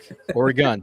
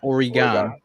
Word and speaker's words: Oregon: over there in oregon don't ever pronounce oregon it's oregon or a gun they get very upset out there or gun or a gun not oregon or football talk just